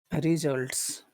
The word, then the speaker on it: results: No, it's not on the first syllable. It's not results. It's results. Results. It's on the second syllable.